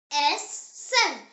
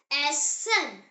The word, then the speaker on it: Essen: E, pronounced as A, like the E in the English word bed. The example word is Essen. Say it Essen.